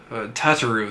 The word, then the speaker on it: Tataru: need to commit their names to memory tata tataru that's it got it hey i got the the first two syllables right at least tataru tauru yes uh another bill and my shifts